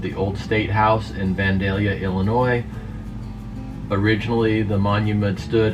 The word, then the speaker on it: Vandalia: video 17 seconds this is vandaly how to pronounce cities of the world we're gonna try that vandalia vandalia vandalia dandelion vandalia vandalia dandelion vandalia vandalia